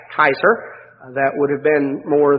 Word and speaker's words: Caesar: title that we pronounce caesar in english we say we pronounce it caesar uh actually the latin pronunciation was more like kaiser that would have been